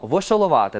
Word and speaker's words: вошоловати: Вошолувати, наголос на літеру А.